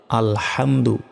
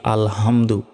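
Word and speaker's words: ٱلْحَمْدُ: হামদ আল পেশ আলহামদু আমরা অনেকেই প্রথম শব্দে ভুল করি বলি যে আলহামদু আলহামদু শব্দের অর্থ হচ্ছে ধ্বংস হওয়া আর এইখানে আছে আল হামদু বড় হা রয়েছে যার অর্থ প্রশংসা করা তো আমরা যদি হামদু বলি তাহলে কিন্তু গুনাহ হবে তাই বলতে হবে আল হামদু লাম লাম জের লিল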